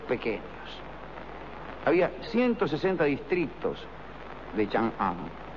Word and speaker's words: Chang'an: Las dos capitales imperiales del Imperio Han, Chang'an y Luoyang, lo pronuncié mal, ¿eh? Es Chang'an y Luoyang.